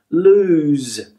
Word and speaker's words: lose: There's like a z sound, a z sound here. This is a s sound. This is a z. Loose, lose.